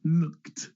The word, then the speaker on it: looked: unvoiced sound then it sounds like T an unvoiced sound looked helped if you have